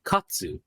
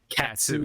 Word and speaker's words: katsu: here in the islands we love eating chicken katsu but when visitors come can I have one chicken katat katsu you're like in the middle of eating